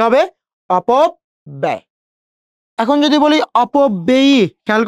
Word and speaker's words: অপব্যয়: এই অন্ত্যেষ্টির সাথে অ, ওই জন্য সেই জফলার উচ্চারণটা আমরা কি করব, এ। এ, এই যে অন্ত্যেষ্টিয়, অপব ব্যয়, কি হবে, অপব ব্যয়।